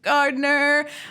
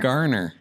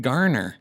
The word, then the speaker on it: Garner: comedies a little Jennifer Gardner Mark ruffle Jennifer gardener Gardner Gardner Jennifer Gardner Garner say it Garner Gardner Gardner no D I'm not saying D